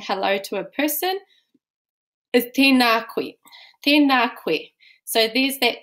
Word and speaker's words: tēnā koe: And making sure we pronounce the macrons, the tohu tō on tēnā. So it's not tēnā, it's tēnā. Tēnā kōrua.